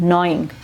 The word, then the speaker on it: gnawing: के खा लेता है, तो जी साइलेंट होता है और नॉ बोलते हैं, नॉइंग।